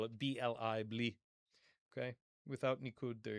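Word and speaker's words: בלי: You could spell it B-L-I, bli.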